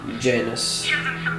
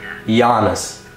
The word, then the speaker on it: Janus: Janus. It's not Janus. It's not Janus. It's Giannis.